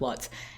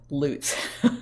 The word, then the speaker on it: Lutz: suburb called lutz and people that come to this area and don't know how to pronounce it always call it lutz and same thing for sheriff lutz everybody keeps calling him sheriff lutz and his pronunciation is sheriff lutz i don't know how to make that connection in your head other than the fact that he's a sheriff he goes after bad guys who loot places so it's